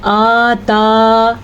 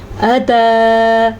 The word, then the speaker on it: أتى: کے سامنے ساکن ہے، اتا حمزہ کے اوپر صرف زبر ہے، بعض لوگ اس کو پڑھتے ہیں آتا، یہ غلط ہے، اتا ٹھیک ہے۔ علی الانسانی عین کے